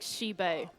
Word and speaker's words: Sheba: So I've just had Arpe message me, and he says, by the way, pronounce Sheba like Shibe.